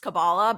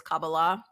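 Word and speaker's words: Kabbalah: talmood the mystical texts of the kabala often pronounced cabala but it's cabala uh and in The Book of Enoch specifically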